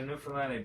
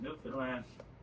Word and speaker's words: Newfoundland: Now, a scuff is a dance and a Newfoundland Blue Star is a beer, and it's pronounced Newfoundland. Not New Found Land, not New Finland.